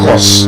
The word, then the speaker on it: curse: So you need to use the correct pronunciation. It's the same way the word C-U-R-S-E. I told us that word is not curse, it is what?